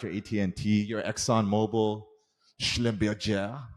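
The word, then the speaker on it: Schlumberger: you've got your you know companies your ibms you've got your atnt your Exxon Mobil schlember I have to say it like that because it's German uh shell mobile General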